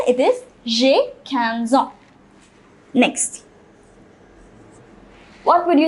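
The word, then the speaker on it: j'ai quinze ans: let me say cans 15 so jay canson j canson see the pronunciation it is jay canson next what would you say about yourself you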